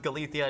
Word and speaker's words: Galicia: Yes, it is pronounced Galicia.